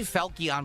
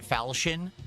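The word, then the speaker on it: falchion: I always say Felion, but apparently you pronounce it Falshian.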